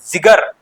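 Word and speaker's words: ज़िगर: अगला है सरदार सरकार जिगर आदमी ये देखिए नुक्ता लगा हुआ है तो इसको थोड़ा उच्चारण जिक्र टाइप से करना पड़ता है ठीक है ना जिगर हो गया नुक्ता लगा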